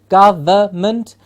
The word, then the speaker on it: government: particular beggar Jolla government please remember the N in the middle silent government government gentlemen problem reference bothersome